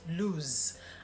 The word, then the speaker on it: lose: So that's lose. And listen to how it sounds. It almost ends with a Z, as opposed to the one with double O where you have loose.